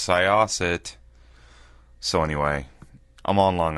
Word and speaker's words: Syosset: I've been pronouncing the name of this town wrong all day long. People kept saying, "Where are you staying tonight?" I'm like, "Oh, I'm staying in Seaset." Funny looks. Thought, wonder if I'm not saying that right. Sure enough, it's Syosset.